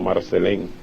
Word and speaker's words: Marcelin: hija natural se llamaba susana marcelín pronunciada en haití como marcel en y era dominicano el